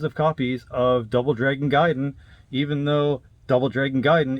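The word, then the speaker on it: Gaiden: there buying tons of copies of Double Dragon giden even though Double Dragon giden is amazing and yes I'm aware it's pronounced gayen but who wants to call it gayen doesn't sound great so yeah Double Dragon giden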